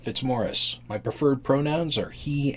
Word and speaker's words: Fitzmaurice: you spell my name that's how you pronounce it fitzmorris my preferred pronouns are